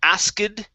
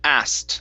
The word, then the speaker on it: asked: is asked okay so instead of ased okay this is an ed ending this would be asked end with the T sound asks ask okay all